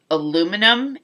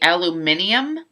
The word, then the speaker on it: aluminium: I will agree with the Brits on the fact that we Americans pronounce aluminum incorrectly, that it should be aluminium, because if you look at the way it's spelled, we technically do say it incorrectly.